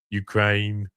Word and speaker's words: Ukraine: Ukraine. No two syllables in Australian.